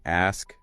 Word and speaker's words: ask: The difference between ask, and XX. Yeah, saying ax instead of ask is a really common error for learners, and it can sound quite jarring or informal.